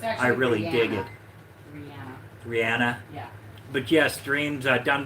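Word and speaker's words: Rhiannon: How's that pronounced, babe? What? Rian? Rihanna? Rihanna, yes, that's it.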